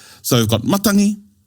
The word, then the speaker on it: matangi: So, we've got matangi. Maki. Makani. What about in in sour? Now, the G is pronounced as an NG.